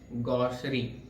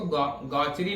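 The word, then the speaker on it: gaucherie: को हम लोग कहेंगे गॉसरी। क्या कहेंगे, गॉसरी। अब देखिए इसको गॉचरी नहीं पढ़ेंगे, यहाँ पे देखिए इसका प्रोनाउंसिएशन दिया हुआ है गॉसरी, क्या पढ़ेंगे इसको, गॉसरी, ठीक है।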